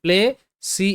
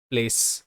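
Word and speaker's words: place: তো পি এল পয়লা প্ল, এ তে এ প্লে, সি এর সাউন্ড স হবে প্লেস, প্লেস, এবং শব্দের শেষে ই এর উচ্চারণটা হবে না, প্লেস।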